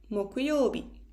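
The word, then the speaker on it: 木曜日: Thursday we write it with the kanji of tree and third day is 木曜日.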